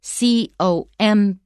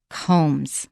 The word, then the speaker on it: combs: of the whole piece it's spelled c-o-m-b-s but we don't pronounce the b combs combs so that's the